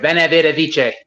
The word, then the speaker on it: veni vidi vici: Veni vidi vici. Yes, pronounced with a W.